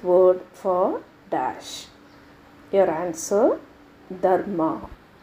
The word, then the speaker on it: Dharma: Your answer, Dharma. Of course, we pronounce the word with R silent. Since I want to differentiate, I gave the stress on R.